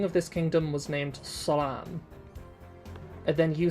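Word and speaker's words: سلام: Like no matter how many times I grab you by the lapels and say Salam, like I would have to like teach you step by step to pronounce a pharyngealized S, you know?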